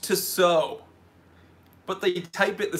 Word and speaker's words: Tissot: It's pronounced Tissot.